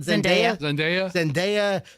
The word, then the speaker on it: Zendaya: Zendaya.